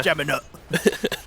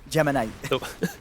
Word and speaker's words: geminate: a bit silly yeah Gemma nut geminate God but yeah it's a nice little geminate not a nut n yeah sorry everyone for